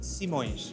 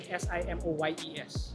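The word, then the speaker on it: Simões: So it's like saying Simoyes. Yes, Simoes. Simoes. Yes. Simoes. Yes. May I call you Mr. Simoes or would you rather I.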